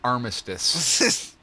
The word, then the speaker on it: Armistice: Amistad Day, All right. right, that's fine. Yeah, that's me. Oh, wait, no, I believe that's pronounced armistice.